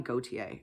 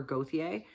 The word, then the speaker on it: Gauthier: And this was Sergeant Paul, I'm going to call him Gauthier or Gauthier. Remember, I told you, depending on where you live, how to pronounce it.